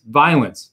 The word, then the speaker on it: Violence: say, I'm disappointed that people are mispronouncing a sire. okay? The sire's name is Violence. Violence. So you make sure moving forward, we include that little whisper there.